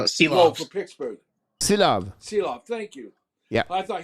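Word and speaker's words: Silovs: Silov, thank you.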